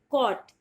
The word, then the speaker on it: caught: CAUGHT, और इसमें भी GH होगा साइलेंट, और आप इसे बुलाओगे कॉट।